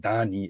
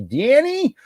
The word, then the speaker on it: Danny: interested I'm like look my name isn't Dani it's actually Danny but good luck getting Japanese people pronounce something in between like an ah and an a like Danny like yeah hey Danny